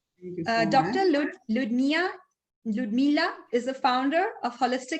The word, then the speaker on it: Ludmila: So that is Ludmila. It's correct. Okay, no that's problem. wonderful. Welcome to the panel. Thank you so Dr. much. Ludmila is the founder of Holistic Healing Medical Center.